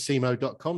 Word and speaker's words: cemoh.com: that before we started, that is the phonetic pronunciation of CMO, Chief Marketing Officer.